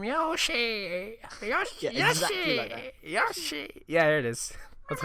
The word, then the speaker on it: Yoshi: so you could have had my money no Yosi how do they say his name Yoshi Yosi Yosi Yoshi yeah there it is that's I I was